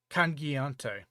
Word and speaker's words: cangiante: Cangiante.